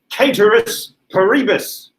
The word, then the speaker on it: ceteris paribus: latin scholarly person and he said no no no you don't pronounce it that way you should be pronouncing it caterous paribus i don't care pronounce